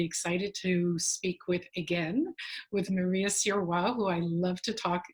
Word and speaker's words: Sirois: I'm really excited to speak with Maria Sirois, who I love to talk. Did I pronounce that right? I pronounced it in French.